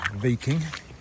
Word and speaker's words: Wiking: I thought his name was pronounced "Wiking" because it's with a W. But uh another friend of mine that was there, Daniel, he told me that you pronounce it "Viking".